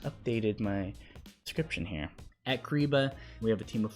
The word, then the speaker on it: Kyriba: That's pronounced Kyriba.